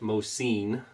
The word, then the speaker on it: Mosin: applicants one was a Mosin which is actually pronounced most seen and it was actually